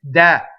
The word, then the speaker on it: deh: to the Aria so the word deh is open contrary to the way you hear it all the time it's that and it's a strong mono